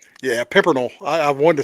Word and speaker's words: Pimpernel: the flowing the the the I'm going to butcher the dude's name, the Scarlet Pimp. Pimpel. Yeah, Pimpernel.